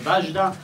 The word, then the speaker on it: Wajda: Chciałbym bardzo mile powitać obecnych wśród nas Andrzeja Wajdę, którego my we Francji wymawiamy Ważda, oraz pana Romana Polańskiego, o którym mówimy Polonski.